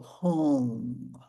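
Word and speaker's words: hong: The sound that we use is the sacred syllable home. Like h o n g.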